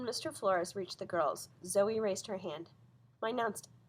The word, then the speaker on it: Zoey: Flores reached the girls Zoey raised her hand my announced my name is pronounced Zoe even though it spelled the OE she said she didn't